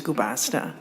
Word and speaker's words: Guasta: so moving to mirel guasta I'm hope I'm saying last name correctly but please identify yourself and um proceed as you're ready bues yes you did pronounce my surname correctly it is guasta um please proceed thank